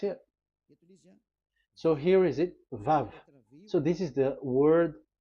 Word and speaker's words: Vav: So it's V as in Vogue. So it's really V. How to read Vogue? So the word, the shape Vav is really pronounced V, like Vogue. That is it, pronunciation. So here in this side, it's pronunciation. This is pronunciation. So according to the old Hebrew word today, those who, the owner of the word, I mean, so it's a V. So don't change it into W, and you will say